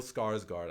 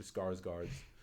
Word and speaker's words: Skarsgård: But Another guy who's known for playing a villain now, who's also in this movie, is I can't do Swedish, but Bill Skarsgård, I think is how you say his name.